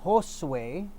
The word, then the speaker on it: Josue: Well, my actual name is Josue. It's Josue. That's Spanish. Josue, Josue. Josue. In English, you would pronounce it Josue.